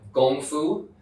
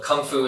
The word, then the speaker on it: gongfu: making tea works so this is called gongfu you may you can show you for the word kung fu yeah yeah so kung fu is another way of pronouncing and gongfu in Chinese